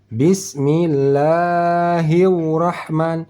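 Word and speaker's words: بسم الله الرحمن: tidak pakai wau artinya ada pernah kita mendengar orang membacanya bismillahirah hiurah hiu Rah sudah bertambah satu huruf wau mati di sini hiu hiu Rahman hirrahman bisa dimengerti bismillahirrahman bukan hiu tetapi hirrahman ujung lidah langit-langit ujung lidah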